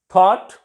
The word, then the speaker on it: thought: Through, thorough, thoroughly and so many other words, GH is silent. Thought, T-H-O-U-Z-H-T, thought, thoughtful.